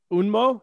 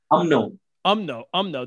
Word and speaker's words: UMNO: What about because that first the party that the UN, I know you UNMO, is that how you say it? UMNO.